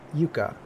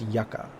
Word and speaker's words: yucca: So in my head, and while I was prepping all this stuff, I thought it was pronounced yucca. But this is actually pronounced yucca. Y-U-C-C-A. So yucca plant.